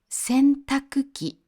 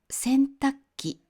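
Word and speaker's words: 洗濯機: 洗濯機と書きますが、発音は洗濯機となることが多いです。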